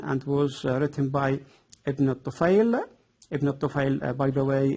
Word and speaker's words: al-Tufayl: It can be written with different spellings, like Ibn Tufayl, Ibn al-Tufayl. It is the correct al-Tufayl according to the Arabic pronunciation. Also written al-Tufayl or Tufayl, Tufayl without I.